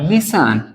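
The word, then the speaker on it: listen: सकते हैं हम इसको नेक्स्ट होता है हमारा लिसन आपने सुना होगा लिसन लिसन मींस होता है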